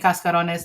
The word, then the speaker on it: cascarones: Is it cascarones or casta with like S-T-A? Cascarones. No, it's a C. Okay. C-A-S-C-O. C-A-S-C-A. C-A, yeah. R-O-N-E-S. Okay. Cascarones.